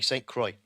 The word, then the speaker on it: St. Croix: Here it's Shadow pronounced it correctly, St. Croix.